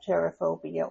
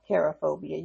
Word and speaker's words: cherophobia: So those two personality types you will see is more common to have cherophobia or cherophobia. You can pronounce it either way.